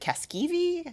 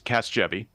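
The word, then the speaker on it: Casgevy: to mispronounce it but is it Caskei? Casavi. Yeah. Thanks. It's Casvy.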